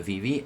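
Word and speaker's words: VeVe: good collectors in the vv app they get prioritized now the vv app you can download on your phone it's just vv just spell like this is spelt v-v v-e-v-e and you can download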